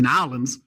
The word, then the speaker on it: New Orleans: trip to New Orleans to New Orleans let me say it like that to nollans and she just happened